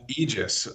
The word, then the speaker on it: Aegis: aegis how do you say it properly uh aegis all right yeah all right all right well